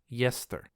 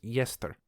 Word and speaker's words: Gjestr: GJESTR is pronounced Yester. So it kind of looks like the word jester with a G in front of it, but it's actually pronounced Yester.